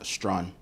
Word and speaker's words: Strachan: Et comment tu prononces? Strawn. Sérieusement? Yeah. The T and the T and the C are silent.